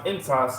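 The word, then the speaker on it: ἐντός: That word in the Greek is pronounced entos, and specifically the reason why I want to grab it, it says within your spirit.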